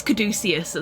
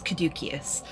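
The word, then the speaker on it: Caduceus: So, I thought it was Kaducius as well, but I have been following a classical on YouTube and she says Kadukius, so I am going to trust the expert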